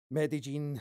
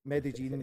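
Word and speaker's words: Medellín: in talking about how Medellin sorry I'll pronounce it right Medellin was was this Silicon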